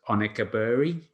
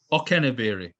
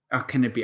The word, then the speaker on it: Okenabiri: side, Taylor Richards, and I'm going to pronounce this incorrectly, but I believe it's Onekaburi is the name? Okenabiri. Okenabiri. I was close.